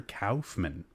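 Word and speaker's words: Kaufmann: you're not wrong Raymond it's Dr Cowman I said it wrong for many many years as well I'm glad you came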